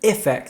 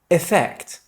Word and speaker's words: effect: Affect and effect both have an emphasis on the second syllable. However, affect starts with a and effect starts with e. Listen carefully. Affect, affect, effect, effect.